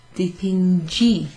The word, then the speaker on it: dipingi: Dipingo, dipingo, così, io dipingo, tu dipingi, dipingi, dipingi, dipingo with a hard G, dipingi with a soft G. That's because we're following the G there with an I.